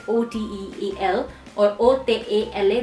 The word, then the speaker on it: hotel: just like hotel and we need to pay attention towards the pronunciation as H is silent in Spanish language so it would sound like OTE al or Oh take a